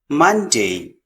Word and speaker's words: Monday: the week Monday Monday here we have o actually e sound Monday Monday then we have Tuesday